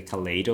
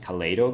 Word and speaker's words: kaleid: I pronounce it Kaleido because it sounds more natural, but the function is Kaleid without O.